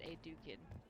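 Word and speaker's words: Edukan: King Edukun has put considerable coin behind the Empress in hopes the trade in foodstuffs will resume quickly. Okay, you pronounced that Edukin. That's different than how I was saying it.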